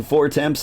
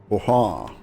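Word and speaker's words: Fortemps: You keep pronouncing four temps as four temps. Wait, is that Fortin? Fortin.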